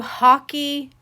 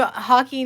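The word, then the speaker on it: Hacci: these are my new hockey I think that's how you say it h a c c i it's the hockey knit or hooty Hy hockey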